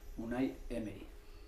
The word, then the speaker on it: Unai Emery: So for the benefit of Arsenal fans all over the world, what's the correct pronunciation of your name? Unai Emery.